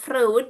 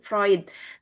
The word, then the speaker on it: Freud: Ee kalau ditulisnya itu Sigmund eh Frud ya, tetapi dibacanya Sigmund Freud.